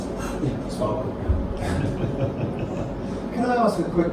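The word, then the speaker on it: SPARQL: Well, on this will be less debate on how to pronounce it. Sparkle.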